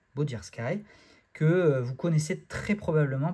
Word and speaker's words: Bodirsky: Je pense que ça se prononce comme ça, Bodirski, que vous connaissez très